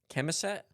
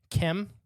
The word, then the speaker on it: Chemosit: It's spelled chem-o-sit. So Kimossit. C-H-E-M. Oh. Like chemistry. Oh, that chem. Oh, Chemossit. Okay, chemosit. Chemicet. Okay. Everything it's like you just pronounce it really fast, like chemicet.